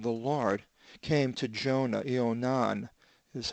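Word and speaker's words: Ἰωνᾶν: And the word of the Lord came to Jonah, Ionan is how it's pronounced, the son of Amittai, legon, saying.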